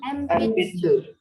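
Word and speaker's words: えんぴつ: Jadi bacanya bukan N tapi mirip-mirip M gitu. Jadi empitsu.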